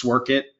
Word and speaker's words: Sworkit: does it mean um so it's sork it uh think of it as simply work it and that's really you know our CEO Ryan he's the one who built sork it 12 years ago um